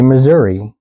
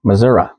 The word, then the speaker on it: Missouri: So they don't say Missouri, even though basically everybody else says Missouri. The locals say Missouri.